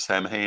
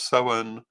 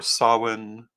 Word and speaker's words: Samhain: of course everyone always likes to say that Sam hay is not one of those pronunciations and no it's not um but it